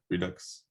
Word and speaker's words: redux: I don't know how to pronounce that word, to be honest. Is it Redux? Redux.